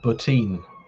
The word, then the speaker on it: Bottin: think Tom Savini and Rob poutine I'm pretty sure he pronounces it like that because I think I've seen an interview with him where he put it where he mentions his own name for some reason